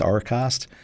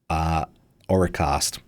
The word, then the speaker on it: Auracast: I think that's how it's pronounced, Auracast, A-U-R-A-cast, something like that.